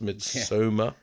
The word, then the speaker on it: Midsommar: our mid Soma as we found out how it's pronounced mid Soma mid episode um but